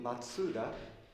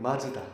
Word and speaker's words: Matsuda: in Hiroshima and but because the pronunciation M mat a little difficult to say they changed the pronunciation MDA you can call me Mazda also okay i' like